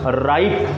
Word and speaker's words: ripe: This is rip, rip, and here ripe, ripe.